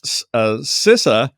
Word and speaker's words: CISA: But CISA, the United States Cybersecurity and Infrastructure Agency, who has advised me that it's pronounced CISA, not CISA, they mandated that Beyond